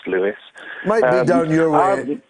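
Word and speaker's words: Lewes: england julian go ahead hi george um it's lewis i know it's about lose but it's pronounced louis might be down your way in dundee we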